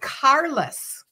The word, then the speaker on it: Carlos: Oh, it's spelled Carlos, but it's female. So it's pronounced Carlos.